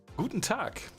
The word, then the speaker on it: Guten Tag: Guten Tag. Probably it's you can pronounce it like that.